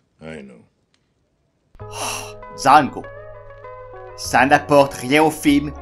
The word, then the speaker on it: Django: The D is silent. I know. Django.